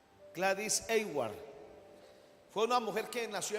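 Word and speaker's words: Aylward: ¿Cómo se puede pronunciar, Sami, este apellido? Eward. Gladis Eward fue una mujer que nació en 1902 y falleció en 1970.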